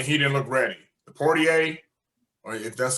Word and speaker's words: Poirier: Dustin Poirier. Poirier, because he's French.